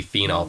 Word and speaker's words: phenol: It's just going to be phenol, Phenol. All right, so even when you're saying that name, really try to pronounce that OL so you don't get confused with phenol, Phenyl.